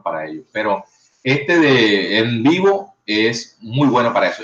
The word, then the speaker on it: NVivo: Uno se llama NVivo, se pronuncia NVivo.